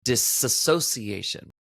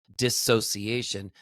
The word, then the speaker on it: dissociation: a lot of times there's a myth that it is disassociation. That that is what we call it. That that is the term disassociation. You may hear a lot of people talk about the term disassociation or disassociated actually the word is just dissociated. There is no a. It is not the full word association. It's dissociation. Dissociated. That is actually the correct term and the way to pronounce it.